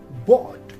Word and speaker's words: bough: time we have our b o u g h here this g h as a digraph is completely silent so we pronounce it as bot less commonly the later